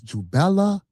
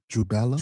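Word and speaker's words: Jubela: So, these three ruffians, you got the name wrong. It's Jubella. Jubella. Jubello. Jubello. Jubelum. Not Jubel.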